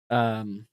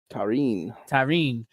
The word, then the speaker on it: Tarín: Tahin, or what was it? How do you say her name again? That sounds wrong. Tarín.